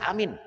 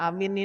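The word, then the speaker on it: آمين: umil quran waq amin ingat bacanya jangan amin bukan amin atau bukan amin hamzahnya panjang mimnya juga panjang Ya, beda maknanya itu gara-gara itu.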